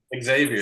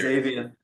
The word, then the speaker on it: Xavier: Xavier. Xavier.